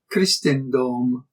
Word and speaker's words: Crisstenndom: For example, the long E of Christus contrasts with the short I of Christendom, which occurs later in